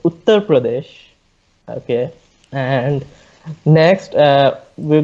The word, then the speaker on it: Uttar Pradesh: all to answer ali the state is pronounced as uttar pradesh okay and next uh